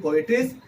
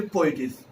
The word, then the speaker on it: poetess: There are two pronunciations. The real pronunciation is poetess, okay, but you can also say poetess.